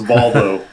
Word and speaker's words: Volvo: Yeah, a Volvo. That's how it's pronounced. Yeah. It is. Go live in Sweden for 3 months. It's Volvo. Yeah.